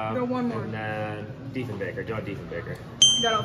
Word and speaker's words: Diefenbaker: And John, I think it's pronounced Diefenbaker.